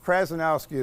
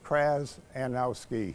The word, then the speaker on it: Krzanowski: It's Krzanowski, as if there was an A before the Z. Krzanowski.